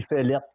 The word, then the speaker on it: Féleth: Oui, Féleth. Féleth. Ça s'écrit avec un E accent aigu, deuxième lettre.